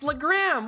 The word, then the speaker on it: Legram: I've still never said it right. It's Legram. What the frick? Put a hyphen in there if you want to pronounce it like that. God damn it.